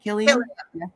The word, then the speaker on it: Cillian: that Oppenheimer is Sicilian Cillian whatever his last name is is that how you say it Killian okay helian I heard